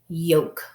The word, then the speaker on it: yoke: It is a silent E syllable. That means the E is silent, but it helps the O make the long vowel sound. So now it is yoke, yoke.